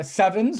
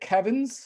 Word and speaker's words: CEvNS: we mean by uh sevens or coherent elastic nutrio nucleus scattering we we pronounce it sevens it's entirely possible to pronounce it Kevin uh but uh we like sevens better um so uh so